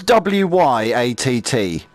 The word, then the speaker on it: Wyatt: What's W-Y-A-T-T? How do you say that? Wyatt. Like the cowboy.